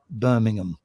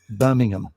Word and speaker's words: Birmingham: you fly him to the other birmingham which is pronounced birmingham birmingham and he's raised in england